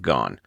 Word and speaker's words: Gone: having to be corrected most people say going instead of gone anyway to my power